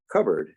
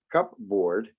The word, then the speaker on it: cupboard: give you here is cupboard you take cup you take cup and you cake board but you don't pronounce it as cup board you pronounce it as cupboard it changes to become something else all together so it's